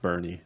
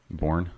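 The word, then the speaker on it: Boerne: And I believe that's pronounced Bernie, Texas, not Bourne.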